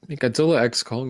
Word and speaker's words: Godzilla x Kong: barely in the movie Godzilla X Kong is fine it's crossover yeah oh which according to Adam Winger I if you guys saw this the x is silent in the title I'm not making this